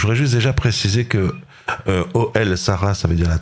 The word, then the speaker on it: Ohel: Je voudrais juste déjà préciser que Oel Sarah, ça veut dire la tante de Sarah, avec bien sûr une référence dans la Torah très très forte.